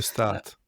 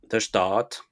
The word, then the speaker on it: De Staat: Je sais pas si ça se prononce comme ça. De Heu, Start. De Staat, OK. Parce que Stadt, c'est plutôt allemand.